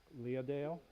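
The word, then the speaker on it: Leadale: in the land of leah dale oh i know people have a hard time pronouncing it but in japanese it's so think leah the name and dale right like like the dale um so in the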